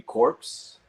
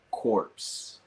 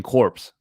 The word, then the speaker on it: Corps: think of not maybe corpse I guess corpse corpse okay you guys like was there but like silent letters yeah because it's like the Marine Corps you don't say the marine corpse also the S is